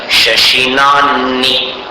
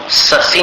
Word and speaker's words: शशिनान्नि: किं शर्वरीषु शशिनान्नि, ससी नहीं बोलना, शशि, और आखिरी में नी बोलना है। किं शर्वरीषु शशिनान्नि विवस्वता वा। नी नहीं है, नान नी, ह पहले और नी बाद में।